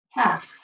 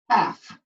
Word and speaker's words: half: say would be one half okay we don't say the L the L is silent it sounds like this one half but it's not somebody